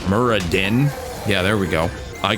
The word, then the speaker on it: Muradin: pretty sure he's from Wow his name is merr Muradin yeah there we go I can pronounce it dwarfed things I love to work